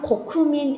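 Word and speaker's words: 国民: 굳이 국민 이렇게 쓰면 고쿠민 이렇게 발음합니다.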